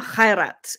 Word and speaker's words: Khairat: Like, not one Egyptian does not know and love Omar Khairat. It's spelled Khairat.